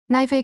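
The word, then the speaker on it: knife: 나이프의 K는 묵음이죠.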